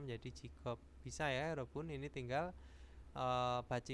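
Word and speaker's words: 직업: contohnya di sini jadi dari J Jig op dibacanya menjadi jikop bisa ya robun ini tinggal E bacimnya itu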